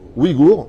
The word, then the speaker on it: Ouïghours: D'après donc les Uyghurs, comme ça qu'on prononce, Ouïghours, autant pour moi, d'accord, basés à Washington.